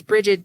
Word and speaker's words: Brigid: And it's Brigid, Brigid. Rhymes with frigid, which is what it is in this room right now.